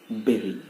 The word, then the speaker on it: bury: It is not bury, it's not bury, it's bury. मैंने क्या कहा? bury. Pronounced as BERI, bury, not bury.